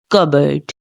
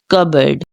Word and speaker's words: cupboard: word so let's start the correct way of pronouncing this word is cboard cboard C bird cboard cboard cboard cupboard once more time cupboard cupboard cupboard repeat it